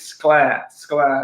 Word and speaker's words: Sclair: I always say his surname wrong. It is Sclair.